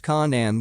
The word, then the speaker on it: Canaan: which eventually migrated to Canaan, pronounced Kanan with the K sound of the serpents, a territory on the Asia Minor coast, which can be translated as the land of the fire serpent.